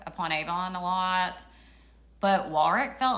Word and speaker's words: Warwick: Warwick is how they say it. W-A-R-W-I-C-K.